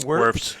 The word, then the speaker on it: Wirfs: He's getting to work out against, I guess he goes against Tristan Wirfs probably how do you pronounce his name? Wirfs, yeah.